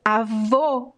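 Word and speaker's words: avô: words and grandpa is a vo with the closed o and this closed o is similar to the pronunciation of the letter o in english in the words old cold it's the same o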